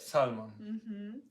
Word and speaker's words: salmon: You just changed the stress to the first syllable. Salmon. I know, in English, the stress is in the first one. In Spanish would be the second one.